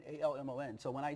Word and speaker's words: Almon: most people can't pronounce my name. Really? Just think about it. It's Almon, A-L-M-O-N.